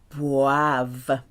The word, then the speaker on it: boivent: You have a V sound at the end. Boivent.